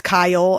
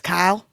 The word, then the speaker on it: Kyle: in my own family, there is debate on if Kyle is 1 or 2 syllables. That's the only complication I've ever had with Kyle. If you're from the north, it's Kyle. And if you're from the south, it's Kyle. Kyle.